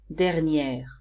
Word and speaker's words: dernière: Here, the pronunciation is different because I now pronounce the R in the singular masculine form. So here we say dernier, dernière.